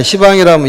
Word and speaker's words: 시방: 그때 시방 하나하나에, 시방이라면 10방을 얘기하는 것이죠. 동서, 동남, 서북에 간방, 팔방에 상방, 하방이면 10방이 되는데 발음하기가 좀 어려우니까 시방이라고 얘기를 하죠.